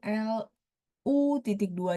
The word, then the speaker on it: 路: Tapi kalau yang ini lausir bacanya lu, misalnya zou lu.